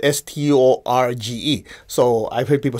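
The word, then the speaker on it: στοργή: It's spelled Storge. So I've heard people say storge, right? Well, I contacted Greece and said, it's storge. You don't pronounce the G.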